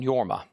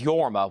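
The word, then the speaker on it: Jorma: This is Yorma, which is spelled with a J. Yorma is spelled J O R M A. It's pronounced Yorma.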